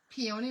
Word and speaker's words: peony: Peony rhymes with baloney.